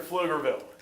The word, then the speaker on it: Pflugerville: Just a beautiful facility here in Pflugerville. 10,000 seat, fantastic football stadium. They call it the field, and yes, the P is silent.